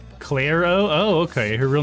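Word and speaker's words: Clairo: me by the name is pronounced claro oh okay her real name is claire cotrill or katril okay so claro am i saying it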